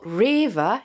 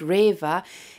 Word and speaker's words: REWE: can't get food like this in Germany but River it's a shop called River you spell it r e w e they have an